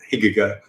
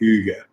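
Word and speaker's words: hygge: although Claire informs us that Higa Gert is actually pronounced at like Yuya the Danish concept of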